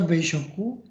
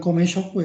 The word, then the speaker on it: 米食: Kemudian ini dibaca Beishoku, bukan Komeshoku ya, tapi dibacanya Beishoku.